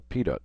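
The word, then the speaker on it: pitot: would recognize something called a PT tube or Pito tube depending on the way you pronounce it the tube itself is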